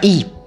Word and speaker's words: Y: andare una settimana a y o si pronuncia i comune francese di 94